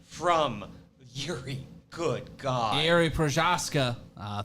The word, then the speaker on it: Procházka: yuri good god airy prashaska uh thank you for the correct pronunciation persons whose name is in cyrillic so i cannot say it but thank you so much yuri przaska good to know 47 significant